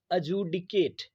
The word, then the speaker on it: adjudicate: अजूडिकेट, अजूडिकेट, ADJUDICATE। डी यहाँ पे लिखा है बट प्रोनाउंसिएशन में साइलेंट रहेगा, तो ये हो जाएगा अजूडिकेट।